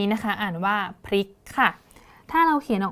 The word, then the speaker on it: พริก: เรา นะ คะ อ่าน คำ ว่า พริก เป็น พริก โดย ใช้ ล ลิง นะ คะ คำ ๆ นี้ เนี่ย ก็ จะ เปลี่ยน ความ หมาย ไป เลย ค่ะ พริก นะ คะ จะ แปล ว่า การ กลับ ไป กลับ มา นะ คะ ซึ่ง ความ